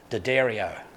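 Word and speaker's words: D'Addario: on their website that tells you that it's pronounced Daddario but that's also more finicky that wankers care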